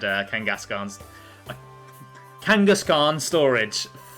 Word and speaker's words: Kangaskhan: I know it's Kangaskhan, not Kangaskan, but I just I can't I can't get my head around pronouncing it correctly.